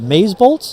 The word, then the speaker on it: Mazebolt: We're here with Matthew Andreani who's the CEO of of Maze How do you pronounce that? Mazebolt. Mazebolt.